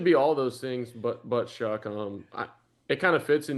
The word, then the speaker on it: Shuck: What's the worst pronunciation of Shuck you've heard? Shao, Shug, Shu, Shuff, Show. I mean, it should be all those things, but Shuck.